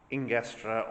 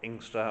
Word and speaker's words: Ingestre: of mary the virgin ingestra or inkster or various pronunciations i'm told that the the locals basically leave out most of the letters but this is the